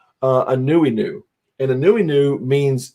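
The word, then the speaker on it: Anuenue: name of the book is an uh it's pronounced uh a newy new and a newi new means in hawaii it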